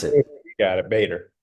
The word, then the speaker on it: Bader: today I'm joined with David and is it Bader or B or how do you pronounce it you got it Bader Bader okay sweet and I got some great news